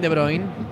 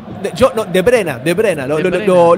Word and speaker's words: De Bruyne: ¿Cómo lo pronuncia el apellido del KDB, compañero? Kevin De Bruyne. Está bien, está De bien. ¿De Bruyne le dice usted? De Bruyne.